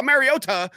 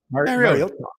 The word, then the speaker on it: Mariota: He was like, oh, Mariota. And I'm like, Mariota. Yeah, that's like pronouncing the L in salmon.